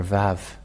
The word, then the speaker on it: vav: V and this is the letter VAV this is the V the way to read this is v as in vag so V that is how it is read so so pronunciation is